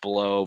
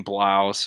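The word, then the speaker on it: Blough: season I really wanted his last name to be pronounced blow but they corrected us and that being blouse oh this wasn't his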